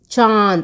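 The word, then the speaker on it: चाँद: So अनुनासिक, which has to be pronounced from both nose and mouth, it's like a chandra bindu, like this you have to put. इसका प्रयोग स्वरों और व्यंजनों वर्णों के ऊपर किया जाता है, and this is used on top of the letters, vowels and consonants. जैसे आंख, चांद. See my pronunciation चांद and आंद, that pronunciation only you have to bring.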